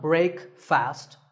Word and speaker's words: breakfast: would you say it the proper pronunciation is not break fast it's breakfast brick with a short a sound and fussed with an